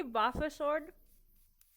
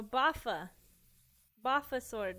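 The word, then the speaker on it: boffer sword: too did you say buffer sword buffer Buster yeah the big thing do you know what a buffer sword is sword I think I'm pronouncing it right no baffa Buffa sword it's like when you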